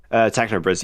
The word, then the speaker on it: TechnoBris: Is that how you pronounce Hello? it? TechnoBris, yeah.